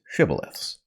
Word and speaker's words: shibboleth: A shibboleth being a word that the pronunciation of which can identify whether or not you are of this or another tribe. Right. So the basic point is the word shibboleth itself is arbitrarily, the correct pronunciation is arbitrary.